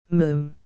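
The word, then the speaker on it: Moffam: first time I told you father it's mum mum it's spelled m o f f m but pronounced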